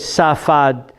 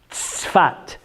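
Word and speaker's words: צפת: It says Safad in English, but it's you know that tzaddik? That city is Tzfat.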